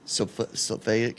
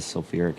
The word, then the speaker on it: sulfuric: Sulfic acid. I'm saying it wrong. Sulfuric acid. Sulfuric acid.